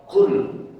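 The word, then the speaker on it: قُلْ: Tetapi membacanya jangan pakai huruf kaf. Kalau pakai huruf kaf nanti artinya menjadi makan. Makan Pak. Jadi bacanya harus pakai qf qul bukan qul. Bedanya di mana qul dengan qul? Hah? Heeh. Jadi di tenggorokan kita. Kalau kul itu ada di depan. Kalau kau itu ada di belakang.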